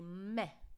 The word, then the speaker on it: me: what students always say they say me because of course we have the word me in english but we want to pronounce it as if there was an h at the end so meh practice after me me